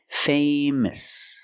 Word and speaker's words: famous: So remember, adjectives ending in OUS are pronounced with a short sound at the end. Gorgeous, nervous, famous.